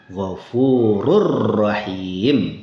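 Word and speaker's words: غفور رحيم: Begitu juga dengan gfurun rahim. Itu runnya hilang. Jadi bacanya gfurur rahim.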